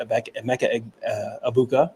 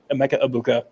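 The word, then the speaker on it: Emeka Egbuka: for a minute about a Mecca abuka sorry almost almost said it wrong Emeka abuka we've been kind of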